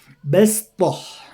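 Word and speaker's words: بسطة: jadi bos, ada tulisan, ada shad di bawahnya, sin di atas, bacanya sin, bastah ya, bastah ya.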